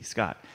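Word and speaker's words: Skat: He wanted to get to, interestingly, there is a very famous German card game, which is called Scott. It's spelled S-K-A-T, Scott.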